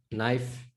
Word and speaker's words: knife: fat right so like in english you get silent letters right like knife one always gets me knife um what other subtle